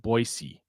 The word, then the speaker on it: Boise: Because you you have to pronounce it Boisey. It's Boyisey.